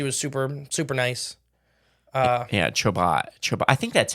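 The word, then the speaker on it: Chobot: Oh, it's Choba.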